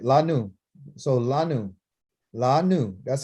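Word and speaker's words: לנו: La nu.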